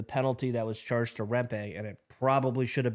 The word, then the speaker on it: Rempe: Rempe?